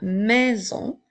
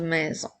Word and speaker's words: maison: une fois la lettre S est encerclée de voyelle donc elle fait le son la maison comme dans la phrase j'habite dans cette belle grande maison je continue avec le